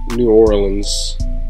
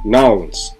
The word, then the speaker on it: New Orleans: We got how New Orleans people, and that's how I pronounce New Orleans. For those of y'all that's gonna get on me for pronouncing that shit wrong. That's how we say it where I'm from. New Orleans.